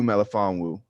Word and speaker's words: Melifonwu: Ifeatu Melon, I don't even know how to pronounce that name. Cornerback. Cornerback from Syracuse. Ifeatu Melifonwu.